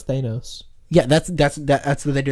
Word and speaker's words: Thanos: I pronounce Thanos.